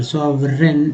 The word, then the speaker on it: sovereign: सॉवे year के पहले वी है तो वर, सॉवरेन, ये देखिए जी एन से जो है यहाँ